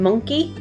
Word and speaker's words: monkey: monkey can you hear our uh sound in monkey can you put the word monkey into